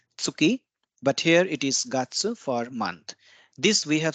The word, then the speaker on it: 月: case it is tsuki but here it is gatsu for month this we have studied in lesson 17.